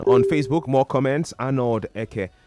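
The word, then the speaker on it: Ekeh: Arnold Eke, more like Eke. I think that's how that's pronounced.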